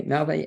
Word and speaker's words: Navé: Navé is spelled Nave. It means bad movie or little turnip in French. Okay, Navé, as always, pleasure speaking to you.